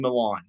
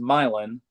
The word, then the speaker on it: Milan: but it's Southam and Milan. I have South Putinham winning 29 to 15. Well, it's pronounced Milin.